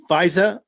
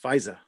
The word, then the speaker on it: Pfizer: tony fauci means anything it's pronounced fisa you gotta get that brooklyn new york accent fisa andrew orr is here